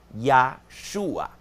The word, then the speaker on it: Yeshua: nombre en hebreo de nuestro Salvador, que es Yhua. Y Yahhua literalmente quiere decir ya es Yahweeh. Yeshua es salvador.